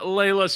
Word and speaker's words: Leila: are you doing today it's actually lila i know my name is spelled leila but it's pronounced leela that's really i i always say my parents misspelled my name or they mispronounced it like one or the other and actually i'm persian which is like layla is the proper pronunciation but i don't know i was brought up as a leelah so i'm a leela oh it's so wrong i